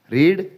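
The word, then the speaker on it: read: ಅಭ್ಯಾಸ ಮಾಡು practised practised ರೀಡ್ ರೆಡ್ ರೀಡ್ ಇಲ್ಲಿ ನೋಡಿ ರೀಡ್ ರೆಡ್ ರೆಡ್ ರೀಡ್ ಅನ್ನೋದು ಸ್ಪೆಲ್ಲಿಂಗ್ ಸೇಮ್ ಇದ್ರೂ ಕೂಡ ಪಾಸ್ಟ್ ಫಾರ್ಮ್ ಅಥವಾ ಪಾಸ್ಟ್ ಪಾರ್ಟಿಸಿಪಲ್ ಫಾರ್ಮ್ ಅಲ್ಲಿ ರೆಡ್ ಅನ್ನೋ ಉಚ್ಚಾರ ಕೊಡುತ್ತೆ ಓದೋದಕ್ಕೆ ರೆಡ್ ಅಂತ ಹೇಳ್ತಾರೆ ರೀಡ್ ಇದ್ದಿದ್ದು ರೆಡ್ ಆಗುತ್ತೆ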